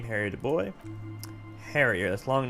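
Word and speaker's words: Du Bois: Whoever told him you're Harry DuBois didn't. Why am I pronouncing it wrong?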